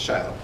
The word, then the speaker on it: Shiloh: Back when the book Shiloh came out, like that kid's book, everybody knew how to pronounce it, but that's since faded. It's Shiloh.